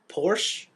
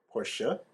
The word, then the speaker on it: Porsche: Yeah, I say it with the E on the end. Porsche. No, just E, like Porsche, I say Porsche. because it's spelled CHE. Oh, where did they get the A from?